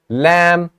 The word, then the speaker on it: lamb: Lamb, B is silent.